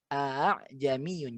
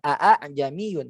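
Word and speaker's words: ءَاعْجَمِيٌّ: ya bacanya ah ah jadi kayak ada dua tapi disatukan ah ah ah jami'un jangan Aan jami'un tapi a-a-a-a dalam sininya ah Jani Hyun agak-agak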